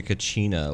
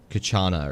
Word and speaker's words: kachina: pretty quickly like it it's like calling the kachina like kachana or something right like it just